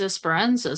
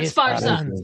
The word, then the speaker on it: Esparza: new project with James Esperanza soon. Ooh, Nice. James. Or Esparza. I said his name wrong. I know that's how we all want to say his name.